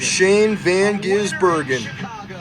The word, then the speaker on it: Shane van Gisbergen: Shane Van Gizburgen.